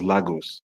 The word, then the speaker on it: Lagos: on a map and cannot pronounce the name of your country correctly, He pronounces Lagos as Lagos.